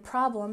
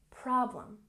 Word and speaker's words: problem: And problem has emphasis on the first syllable. Problem, problem.